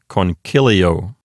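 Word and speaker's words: concilio: So the accent hops over one notch to the left to the antepenult, which is CI. So this word sounds like conchilio.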